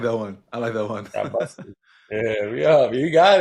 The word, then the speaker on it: Yabusele: Yeah, no, y'all pronouncing it wrong. Yeah, it's Yabusele.